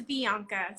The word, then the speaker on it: Vianca: It's Vianca. So it's like Bianca, but with a V.